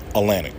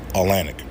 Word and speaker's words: Atlantic: Atlantic. The T doesn't even matter. The T is not even pronounced. Atlantic.